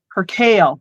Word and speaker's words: percale: Percale. That's how to say it. It's percale.